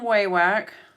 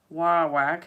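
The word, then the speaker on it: Wawak: So, this is thread from Waywack. Wawack actually is how they say it. Wawack. I like Waywack. I'm going to go with that one.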